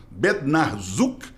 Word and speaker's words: Bednarczuk: Se fosse para falar em polonês estrito Bednarzuk, que é como se fala.